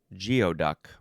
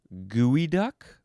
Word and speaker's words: geoduck: Um, the word was said geoduck, but actually it is pronounced gooey duck.